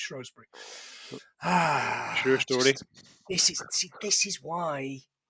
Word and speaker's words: Shrewsbury: Oh, I could have gone one more there and done Shrewsbury, in spite of the fact it's pronounced Shrewsbury.